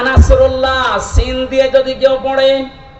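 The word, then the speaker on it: نصر الله: এই যে ইজা জা নাসরুল্লাহি ওয়াল ফাত, এখানে সোয়াদ আছে, মুখ গোল করে উচ্চারণ করা লাগে। নাসর মানে সাহায্য, নাসর মানে কি? আর ইজা জা নাসরুল্লাহ সিন দিয়ে যদি কেউ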